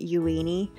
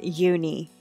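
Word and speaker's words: Euini: name uni before but looking at the Katakana it looks like yui knee so that is why I am pronouncing it yueni and uh I couldn't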